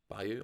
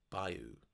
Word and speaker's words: bayou: somewhere in the bayou Bayou I was saying Bayou all along earlier and I'm pretty sure he pronounced it Bou so sorry about that